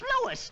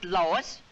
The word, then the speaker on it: Louis: Me llamo Louis. No Lois. Caramba. Todo el mundo pronuncia mal mi nombre. Es Louis. L-O-U-I-S.